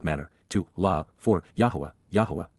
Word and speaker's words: Yahweh: to La for yah Yahweh the proper pronunciation of the name of eloah God as directed in his